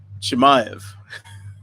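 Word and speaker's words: Chimaev: at uh uh chim chim it comes at chemiev yes i'm finally getting that pronunciation right um now we've heard some interesting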